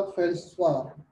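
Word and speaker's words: feldspar: And sixth point लिख लो, soda फेल्सपार, यहाँ पर डी साइलेंट होता है बेटा, डी को नहीं प्रोनाउंस करते हैं, फेल्सपार होता है, ओके?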